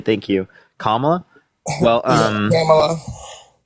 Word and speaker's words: Kamala: Kamala Yeah, Harris, thank you so much for the Joe $15. Biden. Thank you so much. I appreciate it. Thank you. Kamala? Well, Kamala.